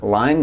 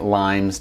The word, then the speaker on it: Lyme: shot a video on Lyme disease and I misspoke um a few times by pronouncing it limes disease now I'm going to